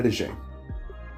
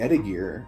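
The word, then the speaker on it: étagère: these specific shelves and it's a French word it's called an etija and the way it's spelled is at a gear and she kept saying ETI gear and I kept connecting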